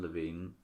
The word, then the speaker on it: Levin: And then he married Susan Levine, or Levin, I'm not exactly sure how to say it.